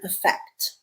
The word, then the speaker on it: affect: Our second word is the word effect, okay, spelled with an A at the beginning. And this A at the beginning always makes the schwa sound.